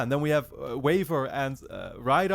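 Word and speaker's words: Waver: a waiver and Ryder I've been calling him Weaver the entire time because every time that I read the wiki summary uh his name is is spelled out as Weaver but in the show they just call him waiver so I'm gonna call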